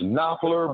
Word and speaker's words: Knopfler: So Knopfler, like French, almost German, French, make up. Okay, would that be pronounced Knopfler by any chance? That's correct. Yes, that's correct.